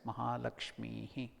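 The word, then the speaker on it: महालक्ष्मीः: When you break it up, you have to chant it as Mahalakshmihi. When you combine together, Mahalakshmir Bharyam Rakshatu.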